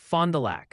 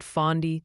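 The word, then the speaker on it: Fond du Lac: It's emphatically Fondelac for that Wisconsin town. Maybe just call it Fondi like the locals to be safe.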